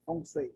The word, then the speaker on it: Feng Shui: Feng Shui é a pronúncia.